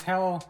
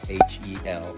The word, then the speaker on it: HEL: It's pronounced HEL, H-E-L, not HEL.